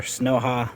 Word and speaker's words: YukiHalu: Our Snowha, this is how you pronounce it, the Snowha Ceiling Fan Remote Control Kit.